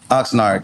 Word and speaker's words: Oxnard: How you pronounce it? Oxnard.